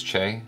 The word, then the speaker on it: Che: You know what's interesting is watching this, the first person I thought of was Che. Is that how you say it? Che? Che.